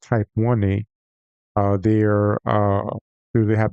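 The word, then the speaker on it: Type Ia: use like a supernova I used to called it a type I is actually properly pronounced type 1 a uh they're uh they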